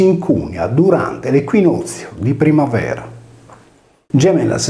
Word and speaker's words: Gemellas: La voce Gemellas, accusativo plurale, seleta con le regole grammaticali dell'antichità, quando la sillaba iniziale Ge si pronunciava come una velare Ge e le consonanti laterali doppie L esprimevano il suono cacominale Du, risolveva in Gemellas,